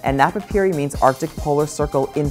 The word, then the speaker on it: Napapijri: are simply not enough remember the j is silent and napapiri means arctic polar circle